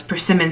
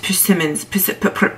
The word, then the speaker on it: persimmon: say it's a persimmon persimmons so the easiest way to remember how to say it is to picture richard simmons purring like a cat per simmons i'll cut it open